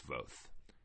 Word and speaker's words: Voth: It was a lot of fun. Both were good, but it's Voth.